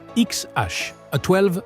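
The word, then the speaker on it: X Æ A-12: XH, A12 Musk, prononcé XH-A12, un nom qui déclenche un délire médiatique.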